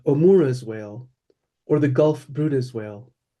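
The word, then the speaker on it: Bryde's: A catchall species scientists believe others belong to like the misn misnamed Omura's whale or the gulf Bruda's whale pronounced Bruda but spelled br yde which makes me here bride.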